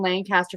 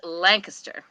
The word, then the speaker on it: Lancaster: I used to read a ton of Amish books, especially when I lived in Lancaster for a few years, but it's been a long time. Right. And it's pronounced Lancaster.